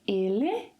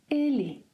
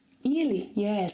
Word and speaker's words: ele: end of a word, in some dialects it is pronounced as 'EE' as in 'movie'. Let's take our first word here as an example. So, I could say 'ele', but in some dialects 'elee'.